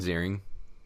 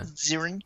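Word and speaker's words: Ziering: Ian Zering. Ian Zering. Yeah Zering.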